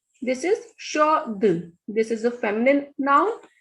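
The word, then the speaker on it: chaude: Shod. Here D is not at the end. The last consonant, the last vowel is E here. So we will pronounce this D. This is shod.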